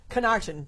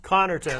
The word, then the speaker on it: Connarton: My guest this evening, Connarton. Did I say it right? Connarton. Connarton.